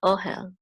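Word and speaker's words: אֹהֶל: syllable so it's hell the accent is on the syllable right here oh hell and oh hell means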